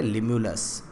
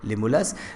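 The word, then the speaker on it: Limulus: लिमुलस के बारे में देखिए, यहाँ पर स्पेलिंग मिस्टेक है, इसको ना पढ़े, आप इसकी जगह पढ़े लिमुलस। क्या वर्ड पढ़े, लिमुलस।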